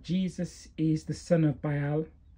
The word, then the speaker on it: Baal: Well, my personal belief is that Jesus is the son of Baal, which some pronounce Baal or Baal.